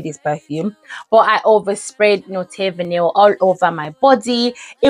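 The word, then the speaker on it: Not Vanille: said layer it with Note vanil because somebody corrected me and said it's not not vanil it's not vanil but it's spelled n o t which is not but anyhow this is not vanil by MF this was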